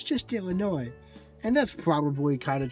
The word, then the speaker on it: Illinois: it's not it is Illinois. Well, it's it's spelled Illinois with an S. It just is pronounced way. You just don't say those.